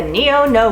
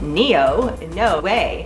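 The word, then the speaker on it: Néonoé: the Neo no way it is pronounced Neo in no way I know that's not easy to pronounce and you don't speak French so a lot of people come in and ask for the meow meow or the neono and we know what you mean so just like the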